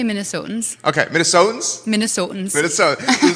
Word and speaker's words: Minnesotans: Is it Minnesotians? Am I saying it right? You can say Minnesotans.